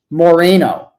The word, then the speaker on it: Moreno: political here Politico here it's pronounced Moreno what did I say Moreno Moreno well hopefully it's pronounced victory